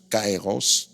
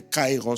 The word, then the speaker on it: Kairos: Le deuxème mot qui est utilisé souvent dans le Nouveau Testament, c'est le mot cair cairos. Le temps est aussi dans le temps. Mais Kairos se situe dans le chronos.